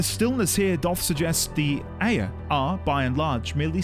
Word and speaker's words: Ea: Sorry, was it Ea or Aya? Someone did say earlier how I pronounce it, and I kind of forgot halfway through. Ea or Aya? Aya, thank you.